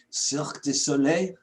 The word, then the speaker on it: Cirque Du Soleil: as composer and musical director for a long-running Cirque Du Soleil. Did I say that? Ooh, very well pronounced.